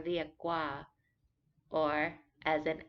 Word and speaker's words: เรียกว่า: This word is written with an R. Many Thai people will pronounce it as an L, เรียกว่า But the proper way is to roll it a little bit, similar to Spanish, เรียกว่า but common speaking,